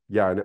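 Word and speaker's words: יה: dişil sütunda bulunan bina yani anlayış anlamına gelen sefira ise Hey ile ifade ediliyor bu iki harfi yan yana koyduğumuzda şurada görmüş olduğunuz gibi yut hey ya diye okunur bu onun Eril ve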